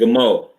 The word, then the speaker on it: Gimel: So in English, you might spell it Gimel. Is how you would typically see it, but it's really pronounced with the God, the Ma, and the La.